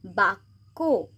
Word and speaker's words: বাক্য: সেরকমই এখানে বয়াকা কয় জফলা, এখানে কটাকে আমরা দুবার উচ্চারণ করব যেহেতু কয়ের সাথে জফলাটা আছে। বাক্য, আবার এখানে যেহেতু টয় জফলা আছে তাই টটাকে আমরা দুবার উচ্চারণ করব।